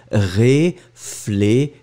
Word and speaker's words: réfléchir: Remember, when we combine these two letters, we get the sound sh sh sh sh. So it goes like réfléchir.